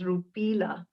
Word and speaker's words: Rupila: your name my name you pronounce the indian currency rupee and just add la to it so it's rupila and where do you